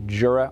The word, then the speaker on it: Jura: have a look at the new juror or Yura depending where you are and a 8 or